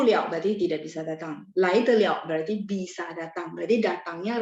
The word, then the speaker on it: 来得了: Nah, kalau sama ya, kalau teman-teman nanti udah nggak pakai pinyin gitu ya, belajarnya huruf Mandarin doang, maka ketemu begini, bacanya lai de liao, oke?